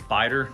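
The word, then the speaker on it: Beiter: so for honorable mention I think it's it's biter knocks that's how they pronounce it I'm not familiar with them as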